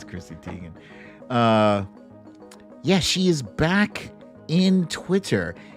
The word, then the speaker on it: Chrissy Teigen: Well, I don't know if she's America's sweetheart, but Twitter's sweetheart, Chrissy Teigen. And am I pronouncing that right?